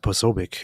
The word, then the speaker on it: Posobiec: Ari here said, David, you and AP once streamed about Do you know how that name is pronounced? Posobiec? They said Posobiec at the event.